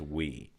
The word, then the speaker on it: Hui: It's HUI, by the way. It's pronounced we, like We. the proverbial we, Like the But, French.